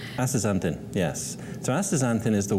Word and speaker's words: Astaxanthin: I think I pronounced it right, Astaxanthin, yes.